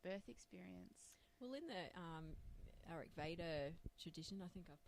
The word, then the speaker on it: Ayurveda: Well, in the Ayurveda tradition, I think I've pronounced that right. Ayurveda?